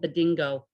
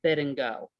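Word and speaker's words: Bidingo: Some call said bingo and some calls it bid and go. The emphasis on the salable, right?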